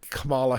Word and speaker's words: Kamala: holds on and becomes our next president with Kamala Harris as our vice president. And I know that's not how she pronounces her name, but I'm from the South.